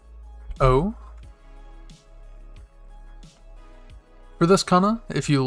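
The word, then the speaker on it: お: Then we have this kana, which has two little circles at the bottom, pronounced o, like you're saying, oh.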